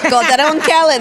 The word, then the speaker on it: Calderón Kellet: So we are joined by the beautiful Gloria Calderón Kellet. Did I say it right? Yeah, Calderón Kellet.